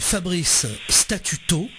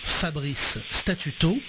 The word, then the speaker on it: Fabrice Statuto: Donc, c'est Fabrice Statuto, comme ça se prononce, Fabrice Statuto.